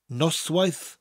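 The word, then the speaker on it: Noswaith dda: phrase nos wise var think of nos wife as a giant nose that's right what you smell with a giant nose in a wedding dress getting married yes she is a nose wife run the words together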